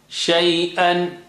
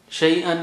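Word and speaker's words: شيئًا: Shay'an. Shay'an means thing. Shay'an. Let's revise. Baban. Rizqan. Shay'an. Once again. Baban. Rizqan. Shay'an. And in all of these, double sign, double sound, 2 signs means 2 sounds.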